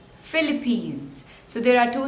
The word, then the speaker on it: Philippines: next is Peru Peru so there are two slippers and the stress is on the second one Peru Peru Peru Peru next is Philippines Philippines so there are two